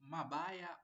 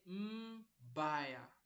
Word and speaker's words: mbaya: So you don't say mabaya or mebaya, miba. No. Say mbaya, mbaya.